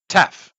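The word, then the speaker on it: ταυ: All the Greek we have in English is classical in pronunciation, but that's not what the Greeks say. They don't say tau. They say tef.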